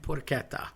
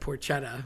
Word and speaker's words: porchetta: Again, we have the sh problem. So Rush actually made I saw them once live, R.I.P. Neil Peart, and they have the song Red Porchetta, which they say, and Getty later apologized to people saying, no, I didn't really know my Italian well enough, and it's really porchetta.